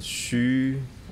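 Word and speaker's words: xu: we go into the Shu healing sound instruction for the LI the shu is spelled as x with the U the Shu healing sound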